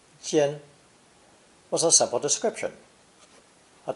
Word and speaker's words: 尖: This new character, pronounced first tone, jian, jian, was a simple description, a tiny tip which becomes bigger as it becomes longer.